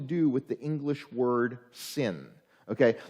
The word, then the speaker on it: Sin: It has nothing to do with the English word sin. Okay, that's why I pronounced it more the way you would in Hebrew of sin, because that's what it is.